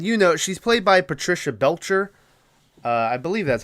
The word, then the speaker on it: Patricia Belcher: the phone and you know she's played by Patricia Belcher uh I believe that's how you pronounce her name um if you look her